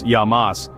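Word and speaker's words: Γεια μας: thank you and of course who can forget yamas pronounced yamas a common toast you'll hear at Greek tavernes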